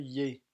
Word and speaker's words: il est: Il est prononcé yé.